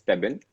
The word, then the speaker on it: Stebin: my name, which is Stebin. So I Okay, think Stebin. because actually काफी सारे लोग अलग तरीके से बोलते हैं, but actually the right pronunciation is Stebin.